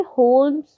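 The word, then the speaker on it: Holmes: यहाँ पे होम्स लिखा हुआ है बट आप बोलेंगे होम्स, ठीक है? एल is silent.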